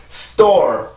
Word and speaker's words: store: 자, 그러면 다시 한번 해봅시다. store, store, store. 한 번 더. store, store, store. 네, 이 단어는 그렇게 발음을 해주시면 돼요. 절대로 store, store 이런 게 아닙니다.